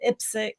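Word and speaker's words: IPSC: the tournament in Thailand ipsic is that how you pronounce it yeah so I am super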